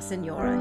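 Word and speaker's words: señora: just sounds like this if you can roll your RS put a little at the end okay it's not as tricky as it sounds at first it's just with Bella seora here we go ready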